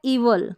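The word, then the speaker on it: evil: इसको पढ़ा जाएगा ईवल। क्या पढ़ेंगे? ईवल। ईवल का मतलब बुराई, इविल नहीं, ईवल। ईवल इसका सही उच्चारण है, ई वाई आई एल।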